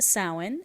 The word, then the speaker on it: Samhain: It is pronounced sin.